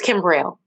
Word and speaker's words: Kimbrell: you so much kimberly am am i pronouncing your name right it's kimbrell thank you kimbrell thank